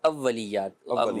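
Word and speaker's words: اوّلیات: اولیات، واو کے اوپر جو ہے وہ تشدید ہے، تو جسے اول ہم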